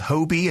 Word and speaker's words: Hobi: The first one that we're going to take a look at here is called Hobie. It's spelled Hobi, and it describes itself as a simple, lightweight TV tracker with lots of goodies for all series lovers.